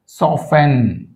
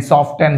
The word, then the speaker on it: soften: సాఫెన్, అంతేగాని సాఫ్టెన్, సాఫ్టెన్ అనకూడదు, సాఫెన్.